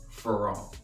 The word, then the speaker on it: Ferrand: collab with man wrong the d is silent the d like like